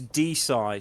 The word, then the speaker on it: DeSci: It's DeSci, so we have Oh. alignments with DeSci, which is I think is it decentralized science, I believe.